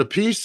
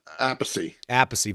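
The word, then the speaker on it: Appice: the Vinnie's name right I think Carmine pronounces it a piece and Vinnie ay aacy Vinnie aacy right yeah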